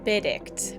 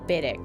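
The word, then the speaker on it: bidict: had to add was called biddict which is spelled b-i-d-i-c-t biddict so make sure that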